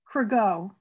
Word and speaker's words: Cregeau: How do you say it, Amy? Cregeau. Cregeau. Okay, thank you. Exactly as it's spelled.